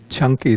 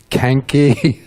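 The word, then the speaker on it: Caṅkī: on suta number 95 this is called the chunky suta it's a discourse focused around or involving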